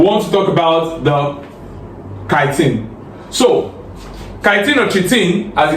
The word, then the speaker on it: chitin: We have the chitin, which some people pronounce as chitin, and we also have glucan, as well as mannoprotein.